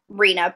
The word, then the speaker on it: Reina: right yeah so he's so he pronounced Rena but yeah go ahead